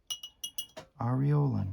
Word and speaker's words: aureolin: So, I'm going to take aureolin aureolin. Yep, that's how you pronounce that.